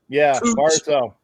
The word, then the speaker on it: Barzal: Brazil for the how they pronounce it? Barzell. And then Barzell.